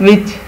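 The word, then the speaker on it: witch: इसी तरह ये क्या है, विच dine विच डब्ल्यू आई टी सी एच विच, टी जो है वो लिखने में लिखा जाता है बोलने में नहीं बोला जाता, इसको साइलेंट टी कहते हैं।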